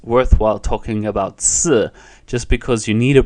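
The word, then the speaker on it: 四: as I know because it's pronounced similar to the word which means to die so just like in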